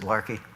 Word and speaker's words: Laki: 1783 in Iceland called larki it spelled laki but they pronounce it larki we know for eight